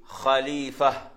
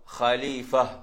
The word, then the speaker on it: خليفة: அது சில நிறுத்தும் போது எப்படி நிறுத்துவோம்டா, خليفة எப்படி நிறுத்தும், خليفة. கடைசியில ஹார்ட சவுண்ட் வரும், ஹா கடைசி சவுண்ட் எப்படி வரும், ஹா خليفة. அந்த ஹா வந்து அந்த தொண்டை கொஞ்சம் கீழே வர மாதிரி வரும், خليفة.